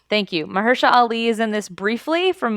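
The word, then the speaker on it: Mahershala Ali: that Mar how do we say his name Mah Mersa Ali thank You Maha Ali is in this briefly from Moonlight we love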